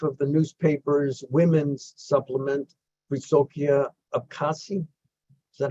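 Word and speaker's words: Wysokie Obcasy: She is editor-in-chief of the newspaper's women's supplement, Wysokie Abkhazia. Is that how you pronounce it?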